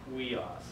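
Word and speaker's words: υἱός: Huios. Kind of like, so huios. If you say it together real quick, it's huios, huios.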